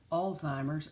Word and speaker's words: Alzheimer's: a t it is Alzheimer's and if you'll notice more and more people are realizing there is no T in it so to make a